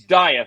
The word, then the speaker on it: Dieth: death and I'm gonna it's deeth right I'm saying it right well if you're German it's deep if you're American it's diet so I it's diet there's really the name is